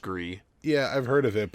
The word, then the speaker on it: Gris: It's a very artsy indie game called Gris or Gree, spelled Gris. Probably pronounced Gree.